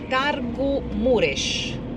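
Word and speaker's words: Târgu Mureș: je suis entré dans Targu Muresh à droite targu mures devrait se prononcer ainsi il devrait se prononcer ainsi une ville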